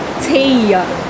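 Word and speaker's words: Tea: Her name is spelled T-E-A. But in the middle of the book, a minor character pronounces her name as Thea.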